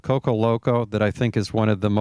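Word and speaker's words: Koko Loco: It's not Coco, and he was loco for naming it that. But it's spelled K-O-K-O, and a rose that'll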